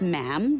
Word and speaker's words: ma'am: For instance, when you're addressing the Queen, she is Her Majesty, and after that it's just ma'am, rhymes with jam.